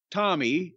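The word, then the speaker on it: Tomi: But Kevin and his wife, Tommy, I get T-O-M-I, Tommy, it's a female anglicization of Tommy.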